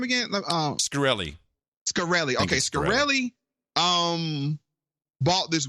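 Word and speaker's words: Shkreli: Scarilli.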